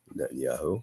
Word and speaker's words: Netanyahu: the US it's funny not Netanyahu net yahu Netanyahu I said it right Netanyahu uh you